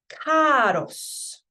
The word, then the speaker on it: caros: This first one is pronounced caros. Caros. And this isn't cars, by the way.